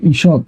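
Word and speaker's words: ঈষৎ: থাকলে হবে ত হসন্ত তাহলে হবে ঈশৎ কি হবে ঈশৎ উচ্চারণ কি হবে ঈশৎ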